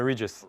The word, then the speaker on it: Regis: I'm Regis. Regis.